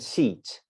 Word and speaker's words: seat: get words like this sit and seat now if you don't speak english as a first language you will say my goodness it's the same it's not i promise you it's very different pick the first one